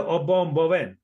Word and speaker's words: Obom Bowen: Obom Bowen. Is that right? Did I Correct.